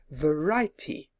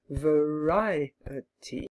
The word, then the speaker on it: variety: Many of my students would try to say it as a 3-syllable word, variety. I tell them that there are 4 and ask them to try and stretch the word until they can find 4 syllables.